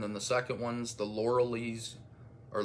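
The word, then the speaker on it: Loreley: I watched and then the second one's the laureles or lauraliz grasp I thought it was laureles grasp but in the movie they pronounce it Laura Li and uh no reversible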